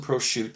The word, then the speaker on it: Prochut: No, the C has caused me a lot of issues in my last name there. We get Prochut and Prochut, so thank you, Kevin. It's Prochut. The C is silent.